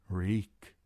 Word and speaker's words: Reek: "Reek. My name is Reek. It rhymes with bleak."